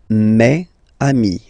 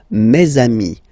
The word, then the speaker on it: mes amis: Okay, it's the plural form, so it's mes amis. Okay, and then let's be purist and make this beautiful liaison between these two words. Mes amis, mes amis, mes amis.